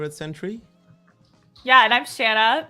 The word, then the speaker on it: Shanna: Yeah, and I'm Shanna, rhymes with banana, Matthews.